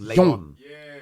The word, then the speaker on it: Leon: pronounced Leon.